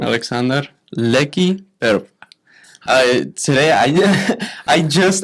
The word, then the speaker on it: Aleksandar: I'm guessing the first name it's pronounced Aleksandar. Yep. Aleksandar Leki Prpa.